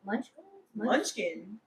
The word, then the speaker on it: Munchkin: I mean, Ariana Grande was saying how like the little how do you say Munchkin? Munchkin. Munchkin? Yeah, like the Dunkin' Donut Oh, Munchkin.